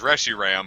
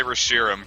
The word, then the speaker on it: Reshiram: oh officially the pronunciation is Reggie Ram but I think that's stupid and ugly so I say Reshiram cuz it's way [